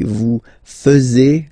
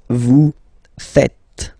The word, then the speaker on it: faites: And it's quite funny because many French people tend to make the mistake and tend to say vous faisiez, okay? But then no. It's vous faites. Vous faites. Okay? So remember, final S here is not pronounced, and then this is not pronounced either.